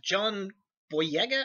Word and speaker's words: John Boyega: So first off, John Boyega, I think that's how his name is pronounced.